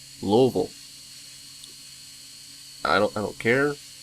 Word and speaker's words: Louisville: you're not from here I guess it is pronounced Louisville I don't care it's pronounced global not Louisville